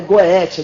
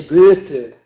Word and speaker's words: Goethe: Não é Goethe, é Goethe.